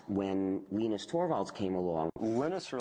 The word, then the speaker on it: Linus: lenus Torvalds came along lenus or Linus what's the exact your preferred pronunciation um when I speak Swedish it's you know when I speak Finnish it's lenos when I speak English it's lonus and I really don't